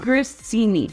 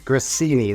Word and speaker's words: grissini: say this cuz I always say it wrong grini grini this is an Italian bread stick you need